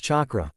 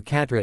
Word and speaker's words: chakra: It's pronounced chakra. Why do you call it Catra? Sasake tapped his finger on the symbol foe. Are her symbol for Catra and then tapped the symbol for Catra in the test.